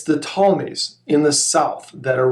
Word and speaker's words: Ptolemies: most about is the ptolemies silent p ptolemy's in egypt and